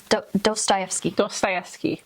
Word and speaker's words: Dostoevsky: Dostoevsky.